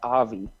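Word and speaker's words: Awie: Now he goes by Avi, but it's spelled A-W-I-E, so W pronounced V.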